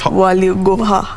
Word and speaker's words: Waligora: the doubles with Amelia Waligora. How do you pronounce that name? It's Belgium. Yes, Waligora. Sounds almost like Walibora.